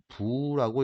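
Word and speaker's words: 不: 뒤에 나오는 한자가 디귿이나 지읒으로 발음하는 한자 앞에 올 경우, 그럴 때는 부라고 읽어준다.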